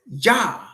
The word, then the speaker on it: Yah: In the original 1611, which you could get access to online, King James Bible, Psalm 68 verse 4 says, Yah, Yah, I-A-H, Yah, which we use the Y.